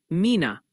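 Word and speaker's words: Mena: And heads up from the pronunciation squad. They're working overtime today. Multiple viewers are suggesting it's Mina, Arkansas, New Madrid, Missouri, and Oan County.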